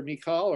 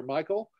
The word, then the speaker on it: Michal: He marries Saul's daughter, Michal, or Michael. It's pronounced both ways by people.